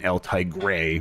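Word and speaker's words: El Tigre: for people who like these characters uh including eltai gray which apparently is how you pronounce that uh Tigre thank you very much um and but you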